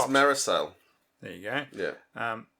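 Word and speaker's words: Mareșal: new tank called the marcel m-a-r-e-s-a-l i don't know how they would pronounce that correctly missile it was very similar look it was very much more triangular i think it's maricel there you go yeah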